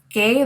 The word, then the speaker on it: que: Now, the Q-U-E in Spanish is pronounced as que, okay? It has a hard C sound. We don't pronounce the U here. It's really just serving as a placeholder.